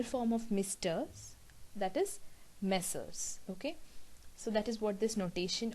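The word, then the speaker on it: Messrs.: this uh particular thing m slash s is pronounced as messers message means it is sort of a plural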